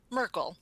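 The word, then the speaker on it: Myrkul: M y r k u l. Merkel. Merkel. I don't I don't know how people I I say Miracle. Okay. Typically Merkel.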